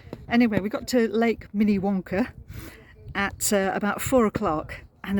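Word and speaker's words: Minnewanka: called Lake mini wanker except they do pronounce it mini Wonka but it's spelled Mini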